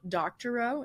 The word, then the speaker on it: Doctorow: Doctorow. Is that how I pronounce it?